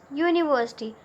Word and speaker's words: university: Now if we will pronounce university, then it is starting with the sound U, that is a consonant.